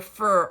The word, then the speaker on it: Fir: This is their Noble Fear or Fire, F-I-R, or fur, I think it's pronounced, is 6.5 ounce.